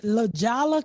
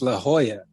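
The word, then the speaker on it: La Jolla: in 1991 he died 91 he died in lala californ what the is Lala California it's La Hoya oh yeah the is wrong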